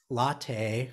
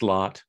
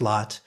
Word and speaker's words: Lot: that table as um latte or lot lot it's pronounced lot it's pronounced lot just like a lot man forcing his way